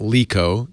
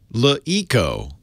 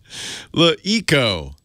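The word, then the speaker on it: LeEco: that did not happen I'm sorry not LICO it is le e co but they capitalized the E and I'm told it's supposed to be pronounced lui Co look Eko which was an up-and-comer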